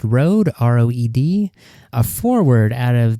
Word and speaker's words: Roed: And our 7th round pick this year was Nolan, I believe this is pronounced Roed, R-O-E-D, a forward out of the USHL.